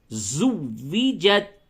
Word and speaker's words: زُوِّجَتْ: زا کی ادائیگی پہ توجہ دیں، زو زا، ایک طرح سے زا گھنگناہٹ کی آواز ہوگی زا کی ادائیگی میں. زوجت.